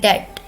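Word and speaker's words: debt: नहीं, डेप्थ नहीं होता गाइस, ये होता है डेट।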